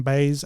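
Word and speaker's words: Baez: Monica Barbaro as Joanne baz I believe that's how he pronounced baz's last name Boyd Holbrook is Johnny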